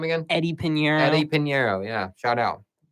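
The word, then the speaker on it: Eddy Piñeiro: Eddie Pinheiro.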